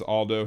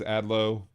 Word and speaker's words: Adlo: Why do you refer to him as Aldo? His name is Adlo.